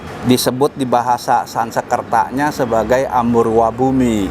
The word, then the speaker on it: Amurva: Wihara Hok Tek Cheng Sin ini adalah disebut di bahasa Sanskertanya sebagai Amurwa Bumi. Amurwa ya bacanya ya.